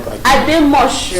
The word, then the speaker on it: Ademoshun: My name is Ademoshun, not Ademoshun.